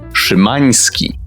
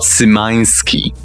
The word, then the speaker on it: Szymański: Speaking of Szymański as a sneering language purist that can at best barely speak 3 languages, this is how you pronounce that surname. Szymański, not Szymański. Got that?